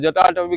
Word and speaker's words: जटाटवी: हम क्या करते हैं, हम जब स्पीच बोलते हैं, हम मुंह पूरा नहीं खोलते, जटाटवी गलत जल, इतना ही होगा, ज ज, ज का उच्चारण अगर पूरा नहीं हुआ, जटा जटा, जटाटवी गलत